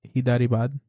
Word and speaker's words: Hyderabad: He was born August 19, 1967 in Hyderabad, India. Oh. Okay. That's pronounced Hyderabad.